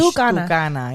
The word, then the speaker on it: TuCanna: Tucana, like Spanish. Tucana, yeah.